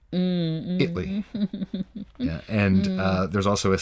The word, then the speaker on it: Italy: But in Texas, there's a city that's spelled exactly the same way, but it's pronounced Italy. Italy.